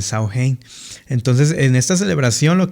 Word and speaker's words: Samhain: Pues bueno, ellos lo llamaban el sain, el sain que representaba o o se escribe el Sam Ahin, pero pues se pronuncia el Sao Hein.